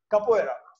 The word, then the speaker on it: capoeira: Capoeira. How do you spell it?